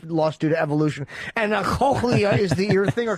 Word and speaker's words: cochlea: His cochlea doesn't work?